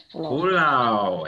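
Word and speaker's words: पुलाव: Pulau.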